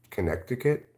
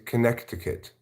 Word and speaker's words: Connecticut: still believe in ranch it's Connecticut not Connecticut it's Connecticut you want me to pronounce a Connecticut I like to pronounce a Connecticut like I like to pronounce February you know I like to pronounce things how they're spelled are you going to